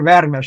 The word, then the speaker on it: Veres: a bit ver ver Peter Veris I mean we call veres the Hungarian pronunciation of his name he made my my